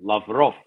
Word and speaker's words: Lavrov: Sergei, Ray McGovern emphasis is on the last syllable, Lavrov.